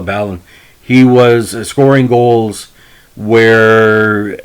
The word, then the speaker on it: Balon: out for me with ballon well some people pronounce it balloon but i call it ballon he was scoring goals